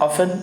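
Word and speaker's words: often: ऑफन, ऑफन means होता है अक्सर। टी साइलेंट रहेगा आपका यहाँ पे, टी साइलेंट रहेगा तो ऑफन मीन्स होता है अक्सर, ठीक।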